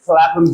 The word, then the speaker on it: Clapham: Another exception, it is pronounced P in Shepherd and Clapham Junction. In these two words, speech is pronounced p, not f.